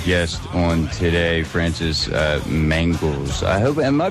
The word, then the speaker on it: Mangels: on today Francis uh mangles I hope am I pronouncing your last name right yes uh mangals it's a German name it means uh sugar